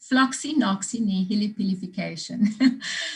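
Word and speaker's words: floccinaucinihilipilification: You pronounce it like this. Maybe you can try to say it with me. Floxinoxynihilipilification.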